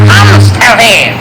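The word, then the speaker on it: Hämsterviel: It is pronounced Hamsterville. Dr. Jacques von Hamsterville, King Papa ruler of the galaxy.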